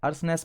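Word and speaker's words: earnestness: इसको क्या है, अर्सनेस पढ़ते हैं। इसमें टी जो है साइलेंट रहता है।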